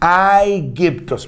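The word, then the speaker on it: Αἴγυπτος: يضيف لها نها نهايه الواو والسين دي الفورمه كده بتاعه اللغه اليونانيه اللي هي تعادل حرفي الاوميكرون سيجما فبدا ينطقها ايجيبتوس مش عايزك تتخط ما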